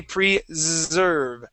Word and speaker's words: preserve: Then we have a z sound. That is the voiced. Okay. That's like saying uh is. Okay. Where we have that zz that buzz there. Okay. So in this word we say preserve.